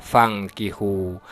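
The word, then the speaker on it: فانكحوا: an-nisa HAM halkat hamzahnya Harus dibuang jadi bacanya fankihu mudah-mudahan video ini bermanfaat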